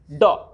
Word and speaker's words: dough: That is when we write DOUGH, dog. Here you can see GH is not pronounced at all. GH is totally silent.